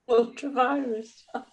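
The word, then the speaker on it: ultra vires: Ultra-virus. Ultra-virus, it's Latin. It's my Latin pronunciation.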